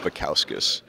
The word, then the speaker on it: Bukauskas: how to say it it's pronounced bowkus um but I do know that is a mouthful and that's kind of